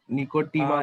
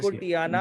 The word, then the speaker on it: Nicotiana: निको पूरा नहीं यार सर, निकोटीमा कुछ ऐसी है, निकोटियाना। निकोटीमा। अच्छा, नेट से टबैको देखकर बताना मुझे। निकोटियाना पहला वर्ड मैं बता रहा हूँ। निकोटियाना tabacum. नहीं, हाँ निकोटियाना टोबैकम, ठीक बोला। Sir spelling NICOTIANA NICOTIANA निकोटियाना TABACCUM। CUM ठीक है।